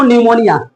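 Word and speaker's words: pneumonia: तो ये लिखाता है पी निमोनिया। लेकिन बोलते हैं इसको निमोनिया।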